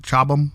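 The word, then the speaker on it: Chobham: Chabam, I believe it's pronounced that way.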